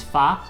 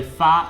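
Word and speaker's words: 发: So fa in hair has the same pronunciation and the same Chinese character as fa in Fa Cai, and that means to become wealthy.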